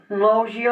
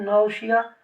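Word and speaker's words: nausea: ये चीज़ें होगी, इंसान वॉमिट करेगा, उल्टियाँ आएंगी, वॉमिटिंग होगी, नौजिया होगा, जिसको नौजी भी कहते हैं, नौशिया, आपकी मर्जी कोई प्रोनाउंसिएशन, और होगा डायरिया।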